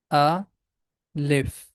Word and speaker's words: alif: It has two syllables, a, lif. The name of this letter is alif.